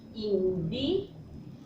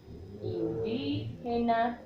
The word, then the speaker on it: indígena: Otro ejemplo sería indígena. ¿Listo? Y decimos indígena, indígena. Entonces marcamos la tilde.